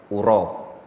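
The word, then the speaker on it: أُرى: Ya, kalau antum ketemu lafaz roa yaro tapi bacanya gini uro ya itu artinya yadunnu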